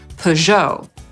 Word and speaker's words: Peugeot: Bo Amerykanie, tak jak Polacy, akcentują drugą sylabę, więc np. powiedzą /pəˈʒoʊ/.